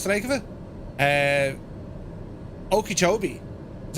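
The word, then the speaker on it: Okeechobee: that Lake what's the lake of it uh okobi is how you pronounce it h and then it's going to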